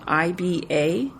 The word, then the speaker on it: Iba: Iba, I-B-A. Yes. I think that's pronounced either Iba or Iba by Bone Marie Burns.